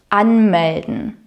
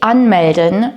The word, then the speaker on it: anmelden: Sich anmelden means to register yourself, and here the word stress is on the first syllable.